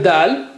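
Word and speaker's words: دال: So here is letter dal. How do you say it? The same way like you say, you know, ta, but here you have a little bit force.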